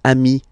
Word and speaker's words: amis: okay, but then technically you pronounce it the same way. So singular form ami, plural form you add this S, but it's ami as well, okay?